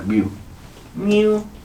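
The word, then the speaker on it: μ: 자, 이 개념의 대표 문자는 뮤입니다. 뮤. 자, 귀엽게 읽으세요. 뮤. 다 같이. 하라고. 자, 그래요. 뮤. 오케이. 뮤입니다. 뮤라고 읽으시면 돼요.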